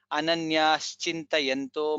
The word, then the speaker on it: अनन्याश्चिन्तयन्तो: In this shloka, Sri Bhagavanuvacha, Bha is Mahaprana, Ananyas Chintayanto Mam. It is Sha, not Sa. I have heard many people saying Ananyas Chintayanto. It is not Sa, it is Sha. Sha. Ananyas Chintayanto Mam.